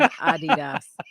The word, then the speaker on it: Adidas: Yeah, that's the correct pronunciation. Adidas now.